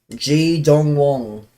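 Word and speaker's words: Ji Dong-won: G Dong Wong. How do you say his name?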